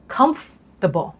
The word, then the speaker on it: comfortable: จริง ๆ แล้ว เนี่ย จะ ต้อง ออก เสียง Comfortable Comfortable คำ ที่ 2 นะ คะ ก็ คือ